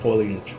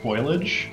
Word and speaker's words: foliage: That is a lot of foliage. Yeah. And little butterflies. It's actually pronounced foliage.